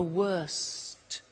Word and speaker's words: worst: T bad worse the worst don't forget to pronounce the T and then far the